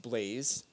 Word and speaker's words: l3layze: me up on there it's the same user name pronounced blaze spelled l3l a yze